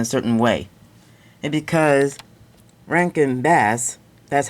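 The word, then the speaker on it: Rankin/Bass: this ranged in a certain way and because Rank and bass that's how it's pronounced they first started in 1960 while the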